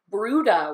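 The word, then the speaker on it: Bryde: we don't see a lot it's called a bruda whale which I've never heard of it spelled b ry de but it's pronounced bruda so it's a brutal whale they're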